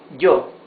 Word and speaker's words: yo: However, when it is followed by a vowel in the same word, like here, for example, look, this is yo. You see, it's a different sound. It's not E, it's J. J. It's yo. Yo.